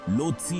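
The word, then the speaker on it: Lhotse: ल्होत्से, जिसका उच्चारण लोत्सी होता है, नेपाल और चीन के तिब्बत स्वायत्त क्षेत्र के बीच की सीमा पर हिमालय पर्वत श्रृंखला के भीतर पाया जाता है।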